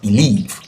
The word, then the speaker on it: believe: The first syllable is be, and the second syllable is leave. And according to the law, since it's disyllabic or two syllable verb, we have to expect that the stress should be in the second syllable, and the second syllable is leave. So we pronounce believe, believe, believe.